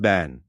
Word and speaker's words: Ben: To the Maya, Ben pronounced ban represents space.